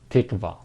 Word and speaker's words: تقوى: God-living, God-loving, God-fearing, or again, that's what we call it as here as tiqwa, tiqwa, or 8615 tiqwa, that is pronounced like this, tiqwa.